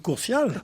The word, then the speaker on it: Courtial: Mais en plus, on prononce Courtial.